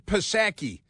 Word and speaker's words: Psaki: They pronounce it Psaki, even though there's a P in front of it. It's like pneumonia. It's kind of like pneumonia.